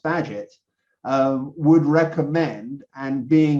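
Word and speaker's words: Bagehot: i found out about water baghot although it's actually pronounced badget um would recommend and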